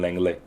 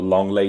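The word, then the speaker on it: Lenglet: is clearly better than langley or longley there we go longlay is the right pronunciation of his name um yeah i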